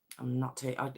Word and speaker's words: Arndt: Now it's Arndt. It's quite hard to pronounce, but I'm pronouncing it Arndt.